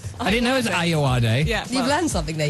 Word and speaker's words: Ayoade: I always wondered how you pronounce his surname. I didn't know it was Ayoade.